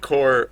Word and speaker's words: Corps: But what part of what caught me up is that there's someone called Core spelled. I think it's spelled like yeah O Core CORPS and so like yeah no it's like Core.